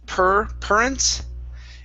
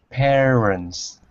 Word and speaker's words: parents: parents right here so instead of saying per current it's an a year sound so it's peer appearance parents okay very nice next up